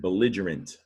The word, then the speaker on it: belligerent: the word germ so is it hard or a soft g in this word the garant or gerund yeah this is the word belligerent it's an adjective belligerent